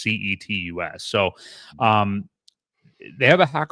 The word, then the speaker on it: Cetus: It's not Cletus, but it is Cetus. It's not Fetus. It's Cetus, I believe is how it's pronounced, Cetus.